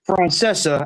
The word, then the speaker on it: Francesa: And also, it's pronounced Francesa.